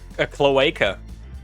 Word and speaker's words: cloaca: A cloaca. Every animal that has a cloaca, that's a K-hole. Cloaca is spelt with a C. I don't care. It's spoken like a K.